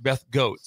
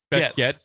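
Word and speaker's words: Goetz: Called her Beth Goats. Beth Goats. It's spelled G O E T Z. I don't know Beth Gats very well. I I haven't heard her name out loud.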